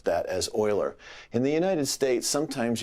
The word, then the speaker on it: Euler: it's it's called the oiler relation okay leonhard Oiler was one of the great mathematicians of the